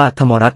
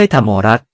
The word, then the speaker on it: ทมอรัส: ไป ที่ ยอด เขาทมอรัส คำ นี้ ให้ อ่าน ว่า ธรรมรัตน์ นะ ครับ ไม่ ใช่ ทำ ของ รัฐ ตำแหน่ง ที่ สร้าง โบราณสถาน